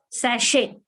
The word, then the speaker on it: sachet: Sachet. You have no small packets of something. The sachet of shampoo, the sachet of sauce, etc. Small packets are called sachet. T is silent there.